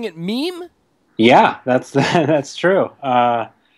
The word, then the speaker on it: meme: that case so right off the bat we're pronouncing it meme yeah that's that's true uh it's um comes